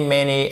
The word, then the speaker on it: many: Many, donc le A de many, vous le prononcez comme un, en fait, presque comme un E accent grave français, OK?